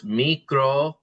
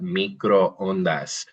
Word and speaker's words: microondas: we'll learn here shortly, the O's are always hard and make the same sound. So they're all, so it's microondas. If we Micro. see two O's in English, that's usually like ooh, like pool or tool or boob, right? But in Spanish, the consistency of the sound of the vowels makes that microondas.